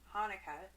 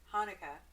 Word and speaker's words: Hanukkah: drunker the thing about Hanukah Chuka Hanukkah whatever they're all technically correct I've even seen it